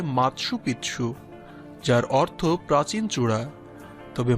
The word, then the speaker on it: Machu Picchu: কেউ এটিকে সূর্যনগরীও বলেন স্প্যানিশ ভাষায় এই শব্দটির উচ্চারণ হয় মাৎসু পিচ্ছু যার অর্থ প্রাচীন চূড়া তবে মাচুপিছু উচ্চারণ অধিক প্রচলিত ইতিহাসবিদ্দের